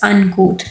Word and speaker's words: uncouth: Uncou this word is pronounced as uncou.